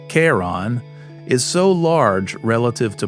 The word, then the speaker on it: Charon: And out at Pluto, Charon, or is it pronounced Karon, is so large relative to Pluto that the two orbit a point in space between them.